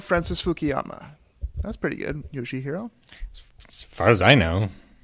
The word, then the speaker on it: Yoshihiro: Yoshihiro. As far as I know. Yeah, Yoshihiro.